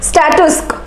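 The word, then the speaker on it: statuesque: स्टेटस, इसकी pronunciation स्टैटस्क, right? इसकी pronunciation बच्चों बहुत इंपॉर्टेंट है, स्टैटस्क, राइट।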